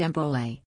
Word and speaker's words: Bole: It was replaced in 2012 with the new bowl, pronounced Embole, War Cry.